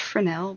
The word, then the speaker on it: Fresnel: So you can Google them by, it's pronounced Fresnel, but Fresnel is the way it's spelled, right?